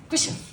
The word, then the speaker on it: Gish: go we have Gish he said pronounce my surname like a sneeze so there you go